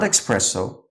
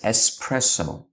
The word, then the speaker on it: espresso: that's already so clear to you it's not expresso its espresso simple as that it's as if you're pronouncing ABC it's espresso that's the correct pronunciation